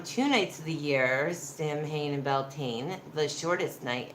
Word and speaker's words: Samhain: night of the year Samhain pronounced a lean soin they believed that there